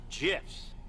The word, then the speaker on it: GIF: via hilariously violent gifts from developer dead toasts pronounced jiff pardon me yeah well someone can't wait to